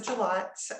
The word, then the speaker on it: Jilot: You can always Google my name, Jilot, but we're in Sausalito. I'm sorry, I butchered your name. I said Jillet. I get it all the time.